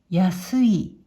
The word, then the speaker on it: 安い: 訓読みで、安い、安いと読みます。